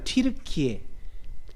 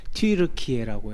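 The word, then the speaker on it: 튀르키예: 그때 이제 저 지도를 보여 드리면서 오른쪽이 이제 오늘날의 튜르키에 옛날 터키라고 그랬죠. 근데 정확하게 발음하면 튜르키에라고 해서 정정을 했더라고요.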